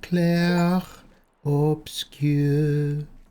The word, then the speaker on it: Clair Obscur: Clair. Oh, Clair Obscur. I've been saying it wrong the whole time.